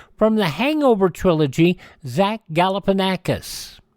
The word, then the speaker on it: Galifianakis: It is spelled out. Galifianakis. There you go. From The Hangover, Zach Galifianakis, 55 years old today.